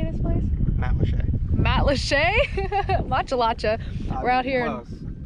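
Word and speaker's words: Matlacha: Matalacha.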